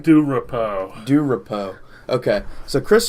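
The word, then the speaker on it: DuRapau: Montana how do you say his last name do repo do repo okay so Chris Stratton for most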